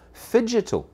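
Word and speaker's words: phygital: that's entirely beside the point the word physical is spelled p h y g i t a l figito it's a blend of of the words physical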